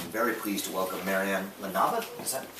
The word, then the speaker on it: LaNebat: Center, and I'm very pleased to welcome Marianne LaNebat. Is that pronounced? LaNebat. Yeah. LaNebat.